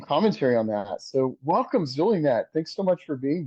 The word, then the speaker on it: Zulynette: and their mama knows it's pronounced sulinet like an S the Z is only there to fool you ah thank you sulinet